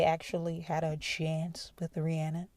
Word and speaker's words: Rihanna: point it seems like rihanna or rihanna as she pronounces it correctly rihanna is about that legacy